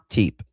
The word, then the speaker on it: Tepe: Tep. Tep. That's how you pronounce it.